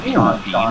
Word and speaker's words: Sean Bean: lot, watching wrestling, and Sean Bean is in it, and I had never realized that his first and last name are spelled the same way, but pronounced differently.